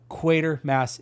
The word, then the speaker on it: Quatermass: Professor Quatermass is like the main character of this movie, so you obviously know how to pronounce it. So it is Quatermass Experiment.